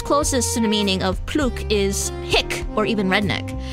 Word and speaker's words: plouc: How do you even pronounce that? Pluke.